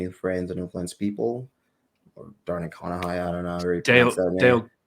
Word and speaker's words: Carnegie: and influence people or darn kahi I don't know Carnegie yeah Carnegie yeah that's how you say it yeah D Carnegie but